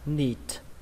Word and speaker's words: neat: Từ này âm y ở đây là âm y dài và các bạn kết thúc bằng âm T, bắn hơi. Đọc là neat.